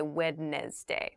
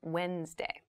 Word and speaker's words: Wednesday: but keep in mind this is pronounced Wednesday There's a d there but we don't say witness day we say Wednesday Wednesday the 18th Wednesday